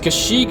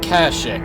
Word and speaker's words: Kashyyyk: in the present now I've heard Kashyyyk pronounced Kashyyyk and Kashuk or Kaushik and basileus 2-tone they're probably both ripe I like saying cuz she